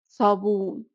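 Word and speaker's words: صابون: And it's basically an S that you pronounce as if you had something hot inside your mouth and you were trying to say it.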